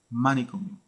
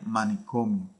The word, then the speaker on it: manicomio: entonces la palabra sonaría manicomio manicomio también mal pronunciado ahora cuando la ponemos aquí en la o de la sílaba co entonces sonaría correctamente sonaría manicomio por eso esa o